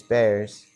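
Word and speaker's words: Bexar: year called Bad News Bears. Bears spelled like Bear County. Uh B X A R for those that don't know about Bear County.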